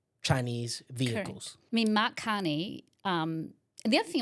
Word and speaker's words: Carney: But Canada and France, so Macron, and I want to pronounce his name probably Kane. Mhan. Carney.